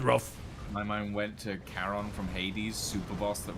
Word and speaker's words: Charon: That's because you're not fighting Charon in Hades 2. You're fighting Charon, apparently. Well, a lot of people have a lot of different pronunciations for a lot of Greek mythos.